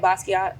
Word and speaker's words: Basquiat: And when I first seen, what's the correct, is it Basquiat? Yeah. Okay, I'm saying it correctly.